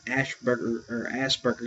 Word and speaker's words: Asperger: That being said, he also suffered from Asperger syndrome. That's the way it's pronounced, Asperger, but it's spelled Asperger, which is